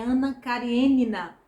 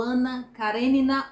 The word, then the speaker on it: Anna Karenina: na nossa conversa é Anna kariênina ou Anna Karenina ou Anna Karenina são três formas aí de pronunciar tostoi nasceu em